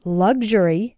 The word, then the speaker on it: luxury: like ksh sexual and in luxury and luxurious it sounds like gzh good luxury luxurious I